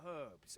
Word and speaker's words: herbs: The brave fool said he was going to look for herbs and went off into the forest. I would help you, but you pronounce the H in herbs, so I think you're kind of on your own.